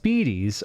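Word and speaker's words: spiedies: what's a spidey bigton spidies pronounced speedies are marinated cubes of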